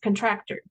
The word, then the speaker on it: contractor: Ok, entonces, contractor, er, no es contractor, ahí no es O.